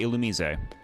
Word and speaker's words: Illumise: I say Illumise, which is the correct pronunciation, which you would have known in the Gen 3 stream.